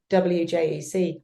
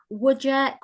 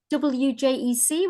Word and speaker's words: WJEC: there a conversation before we started it's officially wjec I've been saying reject as a teacher oh not like 15 years